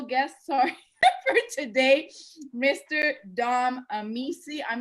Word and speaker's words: Amici: It's been pronounced many ways, but it's yes, Amici. Amici.